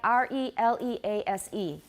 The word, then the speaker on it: release: She uses hypercorrect Z's. So for example, 放开, R-E-L-E-A-S-E. How do you say that? Very good. But that's a long E, but we don't want to make it too long because what?